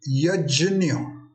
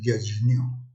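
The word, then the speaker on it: यज्ञ: yeah and this actually the pronunciation of this is yajna yet junior now some places in western india and southern india even today people pronounce it correctly as yes new in the olden days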